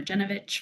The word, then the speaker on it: Janovich: afternoon everyone good afternoon as you pronounced quite correctly my name is genovich from New Jersey Department